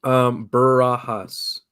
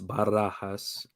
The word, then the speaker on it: Barajas: Barajas. I also have knew there was going to be a silent one in there. You can roll if you can roll your R's. It's Barajas.